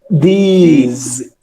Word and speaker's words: these: These. Yes, Alisson. These, não é? Perfeito. Aí a pronúncia do this para o singular, this, som de S, e para o plural é o these, som de Z, né?